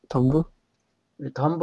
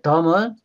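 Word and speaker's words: dumb: 덤브 할 때요, 이 M 다음에 B 나오면 영어에서 묵음이에요. 이 MB로 끝나는 게좀 있거든요. 이거 뭐지? 이거 어떻게 읽죠? 툼. 그다음에 이거 밤. 폭탄이란 뜻이잖아요. 그러니까 MB로 끝나면은 EP 묵음이다. 이것도 하나의 규칙이에요. 그 덤은 벙어리 이런 뜻이죠.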